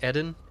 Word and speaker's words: Eden: stream maybe next time it's pronounced Eden Eden games okay noted new game